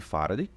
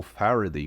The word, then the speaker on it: Faraday: A lei de Faraday, ou Faraday, como você preferir pronunciar.